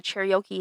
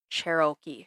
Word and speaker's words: Cherokee: Because it's like Cher and then Okie? Cherokee.